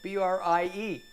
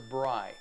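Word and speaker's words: brei: did i spell it b-r-i-e it it almost sounds like matzo brie but it's not mozzarella it's matzo brai and i checked the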